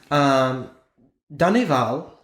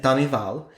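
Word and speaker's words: Denneval: Danival, that's how you say it, Danival, and Duhamel differed greatly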